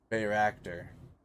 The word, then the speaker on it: Bayraktar: Bayraktar. Apparently that's how you say it.